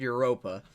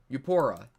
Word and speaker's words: Eupora: I said Europa. No, it's Euro. I don't know how to pronounce it, I'm sorry. Eupora. There we go.